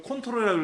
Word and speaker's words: CTRL: 이걸 컨트롤이라고 읽어요.